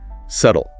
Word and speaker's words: subtle: Subtle. S u bt l e. Tricky pronunciation.